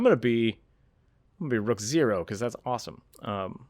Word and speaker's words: Rookzer0: always check me out on youtube it's just rook zero with a zero at the end it's rook